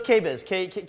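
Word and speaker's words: KBIS: think it's a cables KB's how you say it so it's quebez yeah kitchen bath International showcase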